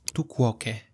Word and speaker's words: tu quoque: Falacia de tu quoque. Se pronuncia literalmente así, lo he tenido que buscar. Tu quoque.